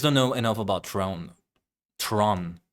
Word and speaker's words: Tron: Tron, not Throne. Tron.